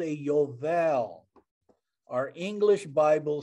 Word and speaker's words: Yovel: o'clock at night i may have misspelled it yovel spell it peggy okay y-o-v-e-l so that picture feeling